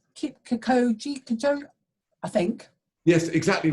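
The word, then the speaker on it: Kipchoge: I want to pronounce it as Kikoji, I think.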